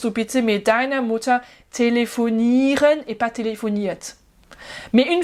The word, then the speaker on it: telefonieren: Mais kannst du telefonieren? Voilà. Attention, c'est pas le ren qui est accentué. J'ai oublié ma prononciation française. Kannst du telefonieren?